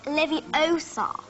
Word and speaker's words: Leviosa: in the books intelligent you're saying it wrong it's Leviosa saw and with a great